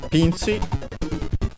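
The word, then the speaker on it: ピンチ: Pinci. Let's check its accent. Yes, on the P.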